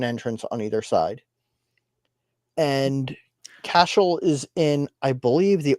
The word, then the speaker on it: Cashel: So this is one of my favorites to talk about because it's pronounced Cashel.